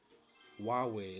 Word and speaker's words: Huawei: Huawei is how it's pronounced. There you go. Thank you, Dave. Huawei.